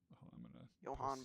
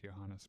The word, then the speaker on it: Johannes: Johan Brahms. Johannes. His first name is pronounced Johannes Brms.